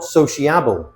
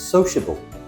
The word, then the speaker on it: sociable: It's not soiable, it's sociable. We don't say the I.